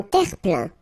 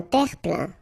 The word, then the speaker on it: terre-plein: Un terre-plein. Un terre-plein. Remember this E-I-N nasal. So it goes in your nose and it's un plein, plein. Un terre-plein.